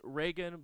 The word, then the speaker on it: Raygun: pulling up notes um a raygun pewterschmidt like reagan uh it's reagan but it's pronounced or it's spelled r-a-y-g-u-n okay raygun pewterschmidt